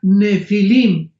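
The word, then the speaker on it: Nephilim: es la palabra nepilim con n de Nancy y pH intermedia se pronuncia nefilim en el original hebreo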